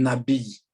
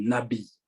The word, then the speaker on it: nabi: En hébreu, on parle du nabi. Notez, on parle du nabi. Ça s'écrit N-A-B-I-Y.